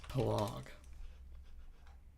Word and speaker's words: pelog: of this stuff right how do you pronounce palog pronounce pelog oh thank you nothing Berkeley Indonesian Community